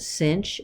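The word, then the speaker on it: sinh: is cosh like and this is how you say it cinch and cosh would kind of like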